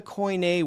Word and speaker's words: Koine: what's the what's the coin a word for let's learn the coin a word for love, agape, right? and and they they say coin in that with that pronunciation. They say co not kini to refer to biblical